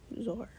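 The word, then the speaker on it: Zoar: far as Zara Zara Zora War this is like it's spelled like War but says or someone say this one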